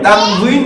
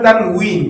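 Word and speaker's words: تنوين: দুই পেশ, কে কে তানভিন বলে, তানভিন বলে, তানভিন বলে। তানভিন বলে, আরবি উচ্চারণ হয় তানউইন, কি হয়? তানউইন, তানউইন। আর বাংলাতে বলে তানভিন বলে।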